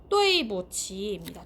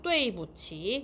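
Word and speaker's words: 对不起: 요게 한번 읽어보면 뚜이부치입니다. 뚜이부치. 요거 발음 한 번만 써드릴게요. 뚜이부치라고 발음해요.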